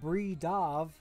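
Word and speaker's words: Bridav: Because I know that B-R-I-D-A-V calls himself Bree Dav, okay.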